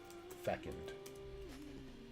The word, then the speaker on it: fecund: Fesooned? Fecund.